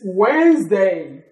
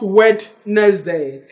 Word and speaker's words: Wednesday: is from Wednesday and it is not wet nice day this clearly silent in the pronunciation of their Wednesday everybody said Wednesday Wednesday